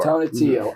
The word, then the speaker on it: Tonatiuh: Tonatiuh.